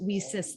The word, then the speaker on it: WiCyS: by your acronym and we pronounce it we sis like we sisters and that's exactly what we are we are a cyber sisterhood and as you can see we sis has a very large